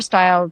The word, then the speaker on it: Steil: So Steil, spelled like it sounds, .com.